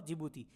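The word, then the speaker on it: Djibouti: ठीक है, इथोपिया और जिबूती। जिबूती से जे से स्टार्ट नहीं होता, डी है, डी साइलेंट रहता है, ये ध्यान रखना।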